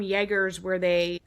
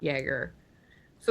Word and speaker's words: Jaeger: that there are some Jaegers so the German J is pronounced as, like, a Y in the English language.